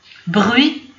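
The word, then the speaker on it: bruit: بغوي هو الضجيج، بغوي تي ما كتبانش ما كنطقوهاش.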